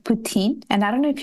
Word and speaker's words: poutine: it up there what is that it's called poutine and I don't know if you have ever